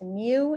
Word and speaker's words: mu: everybody do that yourself i got that my population mean is 19.75 you guys remember that this is pronounced mu and that is not an m that's like